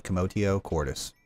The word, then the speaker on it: commotio cordis: assume the term is commodio Cordis commotion commodio quartus with t commotio Cordis uh what are you